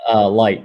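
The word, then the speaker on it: Licht: How you pronounce his name? Light. Yeah, Light. Light.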